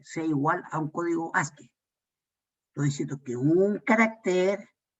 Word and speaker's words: ASCII: Es ASCII, con 2 I latina, pero se pronuncia ASCII.